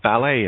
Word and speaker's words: ballet: clue isle or debris t is silent in debut ballet in oh look at